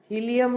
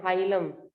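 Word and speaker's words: hilum: And यहाँ पे जो लास्ट में ये स्ट्रक्चर आएगा, that you call हीलियम. नहीं, स्पेलिंग रॉन्ग है, हाइलम.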